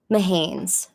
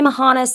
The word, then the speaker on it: Mahanes: Mahanes. That's how you pronounce that. Annalise Mahanes. A lot of people say Mahanis. That's not correct.